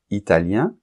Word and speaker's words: italien: par exemple italien italienne et là il y a une différence de prononciation puisque italien masculin on entend la nasale un Italien et italien féminin on entend le N la lettre N que on nentend pas pas dans le masculin italien italienne et en plus